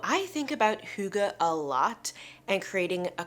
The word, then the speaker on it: hygge: even quite correctly but it's spelled h y g g and it said Huga or hug I can't even quite say the vowel sound but that's what it